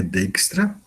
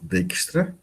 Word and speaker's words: Dijkstra: A pronúncia do nome dele é Dijkstra, tá certo? A pronúncia é Exter Wiebe Dijkstra, tá?